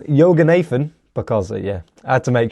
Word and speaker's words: Yoganathan: Yoganathan, because, I had to make sure there, didn't I? But yeah, Yoganathan got a red card in the 52nd minute,